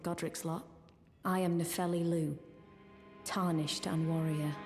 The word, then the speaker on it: Loux: so this is nepheli Lou the ex is silent Warrior come to think